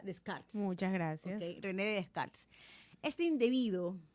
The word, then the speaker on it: Descartes: Para la gente que no sabe pronunciar descartes, no se pronuncia descartes. Yo también salí de la ignorancia. Se pronuncia descarts.